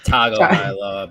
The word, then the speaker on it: Tagovailoa: It's Tagovailoa, by the way. No. Yes, it is.